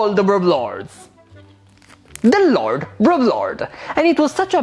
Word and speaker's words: Lord Broblord: It's Lord Broblord, and you have to say it exactly like this, or I will cry.